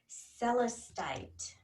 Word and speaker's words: celestite: they're so wonderful and sometimes i say it wrong by onesie it's called celestite and they're blue and